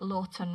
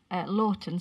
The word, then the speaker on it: Laughton: It's at Lawton, spelled Laughton Road. That might not be how you say it.